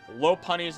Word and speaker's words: Lopunny: seen one person pronounce Lopunny's name correctly, and I'm not one of them. Lopunny is the proper way to say it, like a lop-eared rabbit.